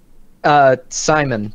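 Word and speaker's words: Syman: Simon, but it's spelled with a like S-Y-M-A-N.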